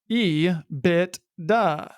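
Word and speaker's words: EBITDA: at its core operation it is pronounced by most as e bit du but regardless of how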